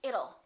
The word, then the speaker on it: it'll: don't say it till let's change that T into a fast d and say it'll it'll rain it'll be hot it'll be nice it'll rhymes with the word little we don't say little